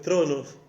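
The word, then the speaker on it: θρόνος: Y del griego es tronos, que se pronuncia de la misma manera, y es asiento de autoridad.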